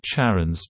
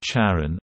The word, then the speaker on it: Charon: These indicate only one pronunciation of «Charon» when referring specifically to Pluto's moon, with an initial «K» sound. Speakers of many languages other than English, and many English-speaking astronomers as well, follow this pronunciation. However, Christie himself pronounced the ch as sh ipa after his wife Charlene.